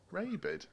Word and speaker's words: Rabid: was your band called the raved lemmings rabid is in rabid like yeah yeah that's but pronounced properly rabid yeah like a rabid dog so i mean probably